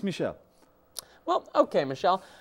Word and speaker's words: Michel: May I call you Michael? Actually, it's pronounced Michel. Actually, it's pronounced Michel, like the girl.